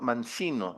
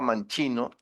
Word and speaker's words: Mancino: de una familia mancino, yo la pronunciaba manchino enloja y quiero sacarme de la cabeza. El que usted menciona es el actual prefecto de la provincia de Loja. Se llama Mancino.